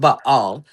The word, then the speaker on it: Baal: Because at the end of the day b a a l ball ba all is is pronounced ba all.